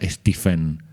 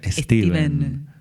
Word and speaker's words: Stephen: Eh, no se pronuncia Stephen, se pronuncia Steven. Sí, señor. Como si como si fuera Steve.